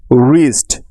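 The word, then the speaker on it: wrist: একটা কনসেপ্ট ডায়াগ্রাফ অর্থাৎ আর এর পূর্বে ডব্লিউ থাকলে ওই ডব্লিউ টা সাইলেন্ট থাকবে সবসময় তার কোন উচ্চারণ হবে না সুতরাং ডব্লিউ আর তে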